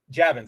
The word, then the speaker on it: Javins: editor-inchief Marie Jav like Yavins Javins oh Javins that's how you pronounce it Marie Javins which Like props to her.